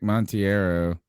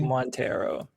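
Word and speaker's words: Monteiro: put this out is Nick montiero montiero um long mono Montero is that yeah he let me say it wrong forever and I'm like why I hate it when people mispronounce my mon Mona he says that he told you that yeah he says MC Montero Montero I'm gonna call him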